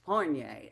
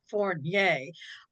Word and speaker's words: Fournier: And I know it's two syllables, Fournier. It's very French, Right. yes? Not like Chevrolet, it's Fournier.